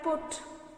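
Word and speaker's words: put: For example if I take the example of this C यू टी पी यू टी, now here you कट, बट here it is pronounce like पुट.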